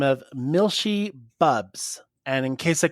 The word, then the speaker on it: Milshi: by the name of Milshi Bubs. And in case I couldn't pronounce the name Milshi, they even put it in one of those parentheses that says Mil-she.